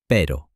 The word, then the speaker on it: pero: For example, the letter R. In Spanish, the R is lighter and more rolled, like perro, which in English means dog, compared to pero, which in English means but. A tiny sound difference changes the entire meaning.